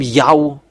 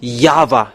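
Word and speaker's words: Yahweh: This name Yao don't enter India for the next time. You have seen the teaching. You have seen the source about the real name. The true name is Yava.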